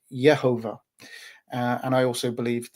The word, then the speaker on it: Yehovah: that I believe that the name of God should be pronounced yehovah uh and I also